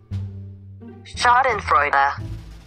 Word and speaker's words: Schadenfreude: went isabed what the shut up what what shot in freud is how it's pronounced what is that what did you type in here shut up what is this chad and frida schadenfreude schadenfreude okay i'm gonna pronounce it in a